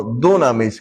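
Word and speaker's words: δύναμις: que se llama dunamis, no dunamis como dicen otros, sino dunamis con acento en la U. Es una palabra es drújula.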